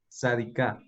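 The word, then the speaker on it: צדיקה: Sadika. Que su significado es justa. ¿Listos? Entonces, como vimos ya, termina en una G y la anterior se lee con la A acentuada.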